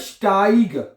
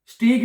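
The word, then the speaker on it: Steig: बात नोट कर लें जहां पे इ आई लफ्ज में इकट्ठा आता है उसको हम इंग्लिश की तरह आई प्रोनाउंस करते हैं ये बन जाएगा आई क्या बन जाएगा आई ब्यूस्ट स्टाइग स्टाइग स्टाइग स्टीग नहीं पढ़ना है इसको समझ आ रही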